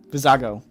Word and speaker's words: Vizago: to get uh I'm not sure how to pronounce that name v vizigo v vizago vizago that's it um uh Ryder huk again I'm